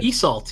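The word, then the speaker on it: Isolde: like it's almost like Romeo and Juliet okay esult yeah just like you said it that's that's how it's pronounced so um the Irish pronunciation and the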